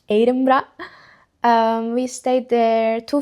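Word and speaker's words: Edinburgh: So yeah, the pronunciation is important. It's not Eden Borg, it's Edra.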